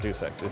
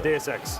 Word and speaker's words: DSX: And and by the way, thank you for saying it correctly. It's not DX. No, it's not. Yeah, it's DSX.